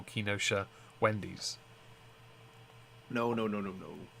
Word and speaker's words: Kenosha: i forget uh before we continue april uh kinosha because that's pronounced announced apparently uh thank you for the